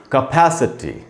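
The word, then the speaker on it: capacity: अब ये इसको कैसे पढ़ना चाहिए, इसको पढ़ना चाहिए कैपेसिटी।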